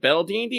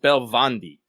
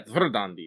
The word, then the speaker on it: Verdandi: Uh fun fact, it's not actually Bel Dandy. It's more like Belvandi um for the uh three Norns of Erns Golden Belvandi.